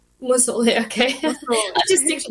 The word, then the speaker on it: Musolli: It's meant to be 2 L's, not 3 L's. But it's Musolli. Musolli, okay.